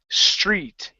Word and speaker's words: street: to pronounce a tee I want you to pronounce SCH like Chi let's try it from